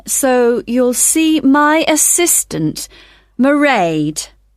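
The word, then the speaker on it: Mairead: I won't be working then, so you'll see my assistant, Merade. Sorry. How do you spell that? It's m a i r e a d. Merade.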